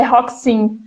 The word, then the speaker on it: Roxinho: gosto de brincar que meu sobrenome pessoal costuma né pronunciar Como se lê né que escreve roxinho mas a pronúncia é rock sim então eu sempre brinco